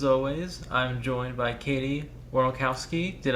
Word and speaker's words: Warnokowski: Yeah, I say my name's so long that it can get kind of confusing, but how it looks is how it's said. So it's just Warnokowski.